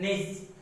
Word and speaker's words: Nietzsche: Please look at the spelling of it carefully, or pronunciation of that. Nietzsche, the German writer, has written that war alone is the national lead, or you can say need.